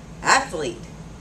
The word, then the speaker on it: athlete: all know this word athlete two syllables athlete not athlete how many times